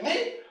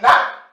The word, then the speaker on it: ni: This preposition is ni for Ubok dialect. They will say ni. Ulundu dialect will say na. Utan dialect will say di, and sometimes they will pronounce it as ri. But there is no ri, no ri, a word or a preposition ri in Mandiako language. Whenever you hear ri, it's not really ri.